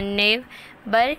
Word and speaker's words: neighbour: फिर हमारे पास इनके प्रोनाउंस कैसे करना है, नेबर जैसे हम लेबर पढ़ते हैं, council tier wear, clear clear, foolish gossip.